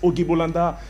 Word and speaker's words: Auguy Bolanda: Ogi Bolanda, bonsoir et bienvenue.